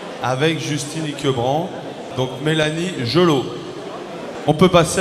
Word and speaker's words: Gelot: Apparemment, il faut prononcer Gelot.